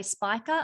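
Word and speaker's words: Spica: is the fixed star speaker some people say spiker it all depends on you know your pronunciation of where you come from i say speaker but speaker is the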